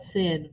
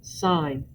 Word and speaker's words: sine: do not call it sin please for all that is good in this world do not call it sin it is sign even though you're using